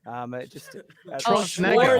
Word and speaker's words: Schwarzenegger: Schwarzenegger.